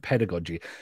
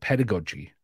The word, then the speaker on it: pedagogy: The teacher still needs the pedagogy, okay? I know some people pronounce it pedagogy, especially if you're in the States. I'm gonna say pedagogy.